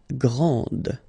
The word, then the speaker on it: grand: This final D is not pronounced.